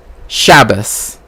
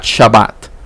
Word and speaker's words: Shabbat: this is why ashkanazi Jewish people say shabas not Shabbat Shabbat ends with this right but ashkanazi people have a rule where if it doesn't have a DOT right then um then it is pronounced like an S right and because different